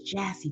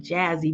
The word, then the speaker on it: Jassy: under andy i think his name is jassy but i want to call him jazzy but it's spelled j-a-s-s-y so he's been it